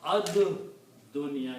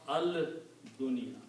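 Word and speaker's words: الدنيا: And then also dal is a shamsi letter, so it does kill the sound of lam. So you pronounce ad dunya. You don't pronounce al dunya.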